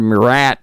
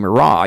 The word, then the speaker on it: Murat: You know, it is, you know, it's kind of like we talked about earlier, the pronunciation of the word Morat to when it's actually Morra.